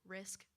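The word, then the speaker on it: Rizk: How do you pronounce that? Risk.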